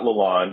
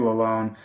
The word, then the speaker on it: Lalonde: assistant coach uh derek lalone and it's not lalonde it's the traditional french pronunciation alone which was uh good